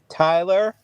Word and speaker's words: Tiyler: So his name is Tyler, but it's spelled Tiyler.